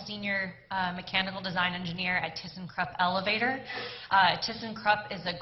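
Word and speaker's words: thyssenkrupp: mechanical design engineer at thyssen krupp elevator thyssen krupp is a global company if you want to pronounce it the way my german ownership does it would be teasing crew which I hear on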